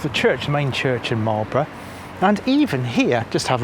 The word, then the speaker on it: Marlborough: Now, the name of the town is pronounced Marlborough, not Moral Borough.